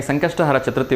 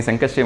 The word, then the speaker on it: ಸಂಕಷ್ಟಹರ ಚತುರ್ಥಿ: ಮಾಡಿರೋರು ನಾನು ಸಂಕಷ್ಟಿ ಮಾಡಿದೀನಿ ಸಂಕಷ್ಟಿ ಮಾಡಿದೀನಿ ಅಂತ ಹೇಳ್ತಾರೆ ಸೋ ದಯವಿಟ್ಟು ಅದನ್ನ ಸಂಕಷ್ಟಿ ಅಂತ ಉಚ್ಚಾರ ಮಾಡಬೇಡಿ ಸಂಕಷ್ಟ ಹರ ಚತುರ್ಥಿ ಅಂತ ಪೂರ್ಣವಾಗಿ ಉಚ್ಚಾರ ಮಾಡಬೇಕು ಕಾರಣ ಏನು ಅಂದ್ರೆ ಸಂಕಷ್ಟಿ ಅಂದ್ರೆ